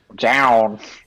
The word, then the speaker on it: Jaune: to pronounce the name yeah it's john do i live in an alternate reality where john is mispronounced down look at